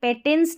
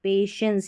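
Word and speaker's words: patience: और ये पेटेंस नहीं, पेशेंस यानी कि धैर्य को, हमारी समझ, हमारी समझदारी, इनको ये डेवलप कर सकते हैं, विकसित, जो भी हम एक्सपीरियंस लेते हैं।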